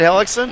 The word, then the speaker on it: Ellickson: by Isaac Alex and Ellickson is that how you say it hellicksen yes wow that was a